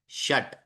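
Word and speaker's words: षट्: चतवारी पंच पंच ट अब देखिए ट के नीचे वो छोटी सी रेखा डाली है जिसका मतलब क्या हुआ वो पूरा उच्चारण नहीं है श पूरा है लेकिन ट आधा है शट सप्त बाकी सब में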